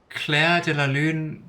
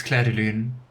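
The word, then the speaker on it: Clair de Lune: I hope that wasn't completely I mean, Cla de Laloon, that's also like a No, it's Cla Deoon, the piano piece, which is really nice.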